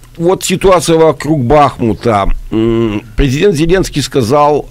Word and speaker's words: Бахмут: я неправильно ударение ставлю одни эксперты говорят бахнут Другие бахмут может быть вы меня поправите Как правильно должно быть А вот ситуация правильно бахмут местные жители говорят что